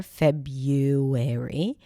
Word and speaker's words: February: And I posted the American pronunciation, which is without the original R, February.